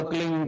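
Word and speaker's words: क्लीं: ही मात्रा और बिंदी, उसका उच्चारण होगा क्लीन गा। गा की ध्वनि निकलेगी पीछे।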